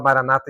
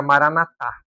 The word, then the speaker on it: Maranatá: Eh, e na verdade a gente fala maranata em português, né? Mas no aramaico ali no original, eh, ela ela vira maranatá. Maranatá. Então, esse eh, a sílaba tônica acaba sendo a última ali, né?